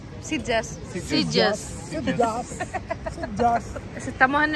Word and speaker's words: Sitges: ¿Cómo se pronuncia? Sitges.